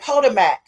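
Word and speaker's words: Potomac: other video when he said podmarmac like obvious that's spelled p o t o m a c which we know as in the DMV area as ptoic merlin. So I'm like, dang, we've been pronouncing that wrong because that part of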